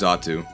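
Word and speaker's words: Xatu: call it X R2 I think it's pronounced zotu sucks by the way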